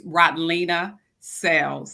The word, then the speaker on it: Rodlena Sales: question all the time it's rotlina cells so uh rolina is spelled i mean it sounds just the way it's spelled i still tell people